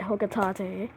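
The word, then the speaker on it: Hocotate: If I can't recover them all, I may never return home to my family on planet Hokatate. Yep, that's how it's pronounced, according to Smash Bros.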